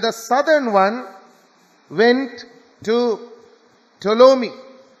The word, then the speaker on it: Ptolemy: And the southern one went to Ptolemy. It's written as P-T-O-L-E-M-Y. The P is silent.